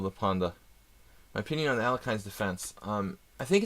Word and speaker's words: Alekhine: I would say don't play the Alekhine's defense or Alyokhin. Try to say it correctly.